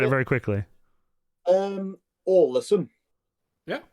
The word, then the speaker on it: Ålesund: I mean, I was going to try and pronounce it as something like Alesund. See, that's completely wrong, probably.